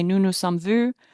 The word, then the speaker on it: vus: say nous nous sommes vus, they don't know whether you put an imaginary silent S on the end of that word in your head. They don't know. The S is silent, okay?